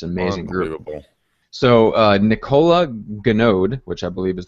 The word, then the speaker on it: Nicola: So Nicola Ganode, which I believe is the correct pronunciation for that, asked, anyone got a great script for calling Make Me Moves on Zillow?